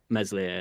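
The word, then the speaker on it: Meslier: we were talking about Mesley silent s and uh he were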